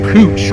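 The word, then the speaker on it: Puig: It's pronounced Pooch. It's P-U-I-G, but it's Pooch, like a little dog.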